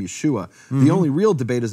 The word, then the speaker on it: Yeshua: Right in the Hebrew, there's no other way to pronounce it, Yeshua, Yeshua.